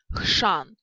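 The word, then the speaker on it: chrzan: И хшан, хшан.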